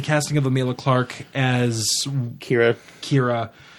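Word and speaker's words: Qi'ra: Clarke as Kira Kira I'm annoyed they spell it the Klingon way with a Q apostrophe a Qi apostrophe RA I'm like Lima and that's a very pick that's a Klingon way of spelling it pick right there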